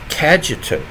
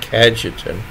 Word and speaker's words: Cajetan: today the Feast of St kajetan I think that's the pronunciation c a j t a n kajetan he was born in